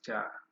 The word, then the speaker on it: char: Is it ka or cha? Someone to pronounce this. Is it cha or ka? I don't know what is the proper pronunciation of this. But my lecturer told me is cha.